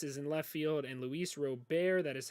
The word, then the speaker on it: Luis Robert: outfield eloy jimenez is in left field and luis robert that is how you pronounce it will be their starting center fielder